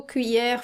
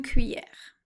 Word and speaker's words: cuillère: This one actually happens to be the most difficult to pronounce according to my students, so let's say this one again. Cuit, cuit, so you got 2 sounds here, the U and E.